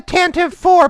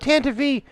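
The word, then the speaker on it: Tantive IV: Well, what had happened is, it's supposed to be Cara Dune, but it got mispronounced, kind of like the Tantive 4. People call it Tantive V for no reason whatsoever. Just because it was mispronounced one time in a radio drama, everyone pronounces it the wrong way now.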